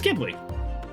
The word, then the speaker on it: Ghibli: It's Ghibli. It's Ghibli. Anyways, this is inspired by, it's a hard G.